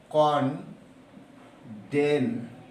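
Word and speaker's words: condemn: এরপরে আরেকটা শব্দ আছে, সেটা হলো কনডেন। এখানে এম এর উচ্চারণ নাই, কনডেন শব্দের এটার অর্থ কিন্তু এই জোরালো ভাবে আপত্তি জানানো।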